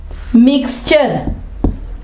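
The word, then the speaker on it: mixture: ठीक है इसके अलावा मिक्सचर अमेज़ा को कहते हैं मिक्स मिक्स चर ठीक ठीक है? मिक्स चर यहां भी देखिए टी के बाद यू आर आया है। ये कौन सी आवाज देगा? के मिक्सचर।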